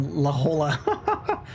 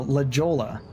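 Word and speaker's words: La Jolla: Ljola but pronounced phonetically I said you mean la or la hola and she was like no leola and looked at me like I'm an idiot.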